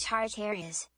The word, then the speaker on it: Tartarus: Pronounced Tartarus.